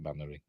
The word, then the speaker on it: Mainwaring: The name Mannering is spelt Mainwaring, but we pronounce it Mannering.